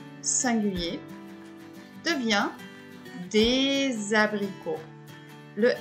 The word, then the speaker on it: abricots: un à grupo des abricots ici vous avez le s et on ne prononce pas le s des abricots vous avez la même